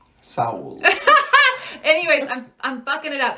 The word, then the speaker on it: Seoul: getting my hair done a girl from Korea was like it's all if they called so so it's like oh yeah we're just saying it wrong so I I sound like a white girl when I say it but we're going to Seoul uh but I think it's so I think it's Saul anyways I'm bucking it